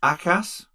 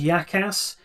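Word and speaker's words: Jakas: We think it's Akas? Yes, so apparently the J is silent. I thought it was Yakas. It's certainly not Jackass.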